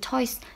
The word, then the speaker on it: toys: Nhưng mà từ toys mình sẽ không đọc nhẹ như vậy, mà chữ toy này mình sẽ đọc z. Toys.